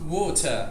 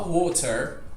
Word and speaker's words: water: Só que depois do R, pode ver que não vem mais nenhum som. Ou seja, a gente vai falar water. A gente não vai pronunciar esse R. O que a gente não quer fazer é falar water ou water, como seria no inglês americano.